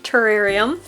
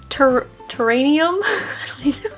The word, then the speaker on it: terrarium: It is terrarium, and it's one of those mispronounced words that are common, like supposedly and supposedly. So I have learned not to say terranium.